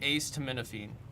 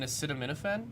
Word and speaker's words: acetaminophen: I used to say ace tminophene and then everyone I would say that to they'd be like you mean acetaminophen and I was like huh that's not how I read that.